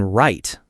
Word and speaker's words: write: The W in write.